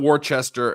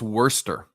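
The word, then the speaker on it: Worcester: pronounce that warchest okay it's not Worchester it's not war sester it's I think it's Worster I think that's how they say it I'm wrong wor sister wor no Worster that's how they I'm tell me if I'm wrong in the chat that's how I think they pronounce it they say they they say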